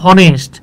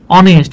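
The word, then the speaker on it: honest: এন এই যে দেখেন এটা উচ্চারণ হওয়ার কথা ছিল হনেস্ট কিন্তু উচ্চারণ হয়েছে কি ভাই অনেস্ট মনে হইতেছে যে এইখানে মনে হচ্ছে এইখানে দেখেন কিচ্ছু নাই এখানে জাস্ট একটা ও আছে ও এন ই এস টি অনেস্ট তাহলে বিষয়টা হচ্ছে এইরকম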